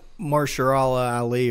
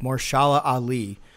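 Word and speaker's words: Mahershala Ali: was really good yeah Marcia al-ahli or would I mean say his name wrong it's more shala Ali is one of the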